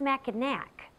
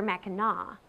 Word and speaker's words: Mackinac: And just so you know, it's not pronounced Mackinac, but rather Mackinac, a pronunciation that harkens back to the early days of this area when the French ruled here.